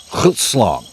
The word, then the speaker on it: Grootslang: NOW, I'M GOING TO pronounce Grootslang correctly once, so you know I do know how the it's supposed to sound. Grootslang.